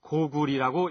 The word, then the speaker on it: 고구려: 일부에서는 구려의 려를 리로 발음해서 구리 혹은 고구리라고 읽어야 옳다는 주장을 하기도 합니다만 여기에서는 구려 또는 고구려로 발음하도록 하겠습니다.